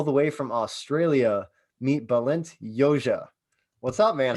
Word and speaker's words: Balint Jozsa: about so all the way from australia meet balint yoja what's up man how you doing i said